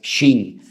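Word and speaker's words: שׁ: que tiene doble pronunciación, porque si arriba te encuentras un punto a la derecha es shin, y si te encuentras arriba un punto a la izquierda es sin, pues ahí encontramos a Sara,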